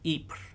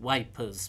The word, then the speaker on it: Ypres: French troops outside the Belgian city of Ypres, which in the First World War, the English soldiers called wipers because they couldn't pronounce French.